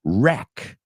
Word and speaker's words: wreck: Wreck, destrozar.